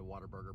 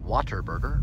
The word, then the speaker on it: Whataburger: onto bryson road another whataburger passing another whataburger right here once again we pronounce it as waterburger rather than what a burger we come across a